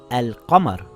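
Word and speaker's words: القمر: shams with two sheens if there is a moon letter after the alif lam you pronounce the lam for example it reads as al qamar and nothing changes so how are we going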